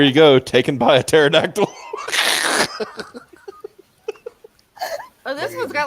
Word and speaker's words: pterodactyl: being taken by a pterodactyl. Yeah. Compared to other dinosaurs, the pterodactyls are actually the bigger creepers because, the P is silent.